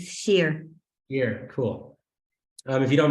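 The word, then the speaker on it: Shir: S-H-I-R, it's Sheer.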